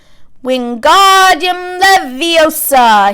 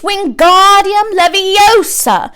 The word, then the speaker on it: Wingardium Leviosa: having much more luck Wingardium Leviosa he shouted waving his long arms like a windmill you're saying it wrong Harry hurt Hermione snap its Wingardium Leviosa makes a gah nice